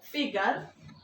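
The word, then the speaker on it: figure: আছে রিফলেকশন আইন এখানে ফিগার আমেরিকানরা বলছে ফিগার বাটি শেষে আরটাকে উচ্চারণ করছে না আর হচ্ছে টিটিউড টিউড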